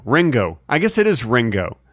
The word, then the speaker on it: Ringo: I guess it is Ringo I guess it is ring go with a hard G I've never really thought